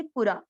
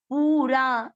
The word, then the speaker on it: पुरा: पू छोटी मात्रा है, लंबा नहीं खींचेंगे, पूरा, विहितः पूरा, विहितः पूरा, पूरा ऐसे कोई नहीं बोलेंगे।